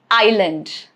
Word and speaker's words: island: It is silent before letter L. Example, island, isle, isle, yet again. Okay, so all these three words mean something different. Although isle and isle sound the same, they are homophones, but meanings are separate. All right, so isle, isle, island. All of these cases, letter S is right before the letter L, and that is why it is not pronounced here.